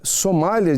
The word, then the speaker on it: sommelier: E o senhor é sommelier de profissão?